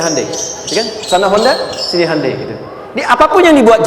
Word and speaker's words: Hyundai: sana bikin Honda sini Handai hyundaikan dibacanya Handai gitu Ini apapun yang